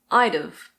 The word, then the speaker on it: I'd've: This becomes I'd've.